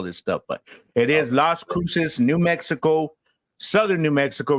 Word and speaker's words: Las Cruces: Las Cruces.